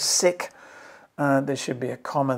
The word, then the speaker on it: sic: knowledge i put it whatever that latin indicator is pronounced as sick there should be a